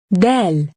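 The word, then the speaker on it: دال: introduce the letter del del is pronounced like the english d in the word dad now try to write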